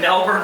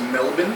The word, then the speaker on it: Melbourne: He was born in Melbourne, Australia.